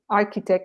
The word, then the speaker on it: architect: greek works architect um as a k architect no architect okay so